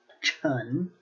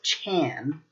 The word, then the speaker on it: 陈: Chun. You'll also see this as Chan due to certain accents when people were first trying to develop romanizations for the Chinese language, and as well as other Chinese languages.